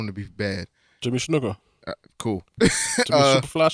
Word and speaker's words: Snuka: Jimmy Snuka. Cool. Jimmy Superfly Snuka or whatever.